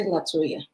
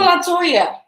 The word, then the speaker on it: LeToya: It's okay to say Letoya. Okay. It's not Letoya. Use It's LE. It's not La. Oh, it's not. It's LE. not LA. See, she's correcting me already.